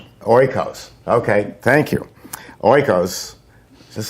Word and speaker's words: Oikos: to ruin the name it's spelled ok io o-k-i-o's uh oy kios like as in oy vey oikos okay thank you oikos